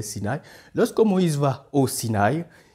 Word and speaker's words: Sinaï: va au Sinaï et vous entendez comment je prononce je dis bien Sinaï ce n'est pas Sinaï c'est Sinaï lorsque Moïse va au